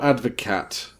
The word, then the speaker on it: Advocaat: It's spelled Advocaat, but it's pronounced Advocaat.